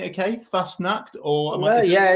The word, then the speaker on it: Fassnacht: I pronouncing it okay first snacked or yeah it's not bad it's fast enough so uh the uh obviously in Switzerland the a is a is very loud so double s means means not as